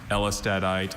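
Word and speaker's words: Ellestadite: Elstadite is a variety of calcium phosphate mineral containing silicon carbon and sulfur replacing some of the phosphorus.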